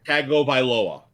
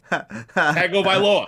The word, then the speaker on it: Tagovailoa: Tagovailoa. Tagovailoa. Right? Tagovailoa.